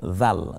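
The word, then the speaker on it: ذ: এরপর র, মাশাআল্লাহ, ঝা, জাল, জালটা নরম আওয়াজে, জিব্বার মা আগা সামনের দাঁতের আগার সাথে মিলিয়ে উচ্চারণ করতে হয়, জাল, জাল।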